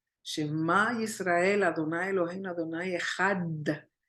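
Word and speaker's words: אחד: Shema Israel, Adonai Eloheinu, Adonai Echad. Por eso se le da énfasis en la Dalet de Had, porque si no lo pronuncian correctamente, lo pronuncian muy ligero, puede sonar como Ejar.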